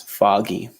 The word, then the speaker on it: foggy: word correct Alfredo perfect the pronunciation is foggy with a good foggy sometimes people say fo G but that's not correct it's foggy and then now it